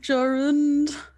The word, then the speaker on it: Jarund: Jarund, vlog, Jarund. Jarund. A long I ooh. apologize. A long ooh.